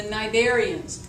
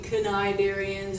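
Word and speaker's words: Cnidarian: talk about are the narian the ca is silent okay so instead of saying canarians or cidarian just leave it silent and it is the narian so five nidaria you've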